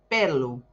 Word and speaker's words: pelo: Por él se dice pelu.